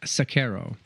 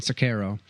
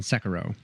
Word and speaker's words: Sekiro: carefully to a cutscene he said suck arrow and so I'm going with the Japanese pronunciation sack arrow because I think that's correct rather than Sakura because you're famous I'm fancy because I care about pronunciation now I might be